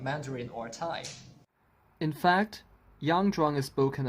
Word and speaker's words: Tai: You may be confused because it sounds the same as Thai, which is the language of Thailand, and actually they have something to do with each other. Notice that the word Thai for the language family is spelled as T-A-I, without an H.